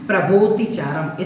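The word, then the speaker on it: प्रभोऽतिचारम्: अवग्रह जो आया है एस बन करके आया है, इसका कोई उच्चारण नहीं करना है। प्रभोतिचारम इतना ही बोलना है।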